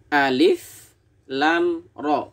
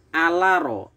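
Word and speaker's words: الر: Baris keempat, masih ingat ya, yang dibaca adalah hurufnya dengan panjang 3 ayunan untuk yang bertanda coret panjang. alif lam ro, bukan alaro atau alama sebagaimana yang sering kita temukan kesalahan-kesalahan saat membaca Fawatihus Suwar.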